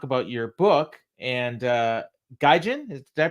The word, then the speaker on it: Gaijin: here to talk about your book and uh gajin did I pronounce that right yeah and uh and a